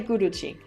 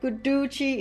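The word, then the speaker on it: Guduchi: finally we're coming to guchi some people say guchi but guchi is the proper pronunciation according to the Sanskrit gramar it's also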